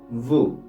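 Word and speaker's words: vous: ustedes ustedes ustedes en francés se dice Vu Vu y aplica la misma regla gramatical al final la letra s no se pronuncia y cerramos con la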